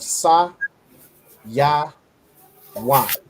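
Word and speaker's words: Sayawan: So the way you put it together, so Sa, Ya, Wan, you pronounce it as Saya Wan.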